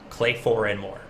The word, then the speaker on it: Clay4ndMore: clay team over here it's clay four and more clay four and more there we go that's how we pronounce it there we go